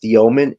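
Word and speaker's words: Demin: Some people don't pronounce his last name. For me, it's Dioman. For Yegor, I I think he showed you could hit the threes a little bit.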